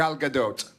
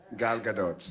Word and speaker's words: Gadot: how do you say it galado g g Gadot Gadot God the dog I would like to see